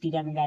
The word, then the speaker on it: तिरंगा: जैसे टी ए एल B double O टंबू देखिए यहां टी से त बना टी आई आर ए एन जी तिरंगा देखिए टी से त बना टी आर आई डी